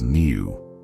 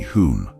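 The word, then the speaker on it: hum: om Mani Padme however the old man mistakenly pronounced the last syllable as Neu cow upon hearing this the monk laughed and corrected him saying that the last syllable should be whom not new when the monk left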